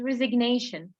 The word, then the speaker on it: resignation: resign and this is resignation why do we pronounce the g here no one knows this